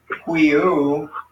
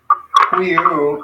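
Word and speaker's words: υἱοῦ: And then genitive, it ends in Omicron upsilon, and so that would change our word to huiu, or look like that, huiu.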